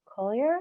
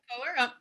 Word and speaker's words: Koehler: All right, we have Collier. Sorry if I said your last name wrong. You said it perfectly. I am Collier.